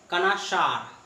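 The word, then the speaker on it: connoisseur: तो इस वर्ड पे हम लोग आए हैं, इसका रियल प्रोनाउंसिएशन है फ्रेंड कनाशार। कनाशार कनाइजर टाइप का कुछ वर्ड आपको दिख रहा है यहाँ पे, तो इसे कनाशार कहा जाता है।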